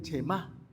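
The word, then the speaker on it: Shemá: Primero que el Chemá, acento en la última, sintetiza la esencia de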